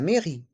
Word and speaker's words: mairie: mairie la la maie dans le mot mairie les voyelles a et i font le son e la maie et le E est mué la mairie la mairie le musée le musée